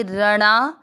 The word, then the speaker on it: रणा: पहला चरण भ में अ मिक्स करेंगे भ, या के साथ आदा द भयात, र में अ मिक्स करेंगे रणा, र ना नहीं है णा है, अण पे आ की